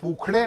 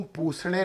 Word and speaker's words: पूषणे: ओम पुखणे नमः अच्छा ओम पुखणे नमः या ओम पूषणे नमः भी कहा जा सकता है। इसको संस्कृत में ख का उच्चारण दिया जाता है।